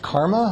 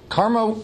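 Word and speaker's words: CCRMA: computer research in music and acoustics which is pronounced karma of course karma uh lots of people were involved in its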